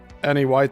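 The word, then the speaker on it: Eniwetok: It was shown that the islands of Bikini and Ny White talk that's spelled N or that's spelled E N I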